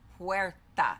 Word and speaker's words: puerta: Puerta is pronounced puerta, and it has the P-W-E-H-R.